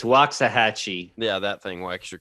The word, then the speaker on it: Waxahachie: Do you know the little wax your coochie? It's Waxahachie.